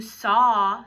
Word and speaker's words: saw: 2 sounds, but that aw sound is spelled with 2 letters, A-W, saw.